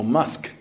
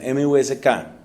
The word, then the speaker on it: Musk: Y busquen a otro señor llamado Elon Musk, o Musk, creo que pronuncian, M-U-S-K.